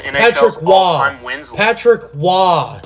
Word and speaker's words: Roy: Patrick Roy. He's French Canadian. It's Roy. It's spelled R-O-Y. I know it is, but it's Roy.